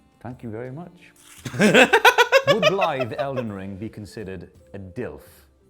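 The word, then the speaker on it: Blaidd: So you pronounce it Blythe, not Blythe, not Blythe, Blythe.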